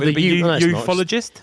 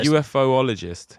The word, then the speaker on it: ufologist: No, UFOologist. It just doesn't sound right when you say it like that. Ufologist. Because it's like UFOologist. Ufologist. It's two O's, so then it'd be ufologist.